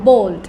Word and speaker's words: bald: এটা BALD কে ইউকে উচ্চারণে হয় বোল্ড, ইউকে উচ্চারণে কি বলবে? বোল্ড। আর যদি আমেরিকান উচ্চারণ হয় বাল্ড। একই ওয়ার্ড ওয়াক, WALK, সেখানে এল সাইলেন্ট থাকে, ওয়াক, BALD, এখানে এল এর সাউন্ড থাকবে। ওকে, বোল্ড অর bald.